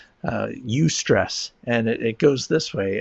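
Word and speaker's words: eustress: There's something called the U-stress curve. It's spelled EU stress. So U-stress, and it goes this way: as stress increases, productivity increases to a point.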